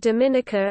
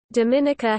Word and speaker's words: Dominica: Its name is pronounced with emphasis on the third syllable, related to its French name of Dominique. Dominica has been nicknamed the Nature Isle of the Caribbean for its natural environment.